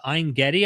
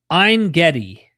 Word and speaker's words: Ein Gedi: Ein Gedi, I believe it's called, is how you pronounce it, which we actually went to.